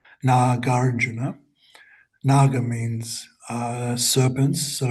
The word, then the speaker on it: Nagarjuna: Master Nagarjuna Notice the pronounce Not pronouncing. It's not Naga Nagarjuna. Nagarjuna. Nagarjuna.